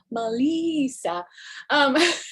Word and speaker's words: Melissa: At Melissa, Malissa, and it's pronounced Melissa.